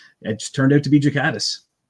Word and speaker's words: Ghikadis: No, it's Jakatis. It's a it's a soft G.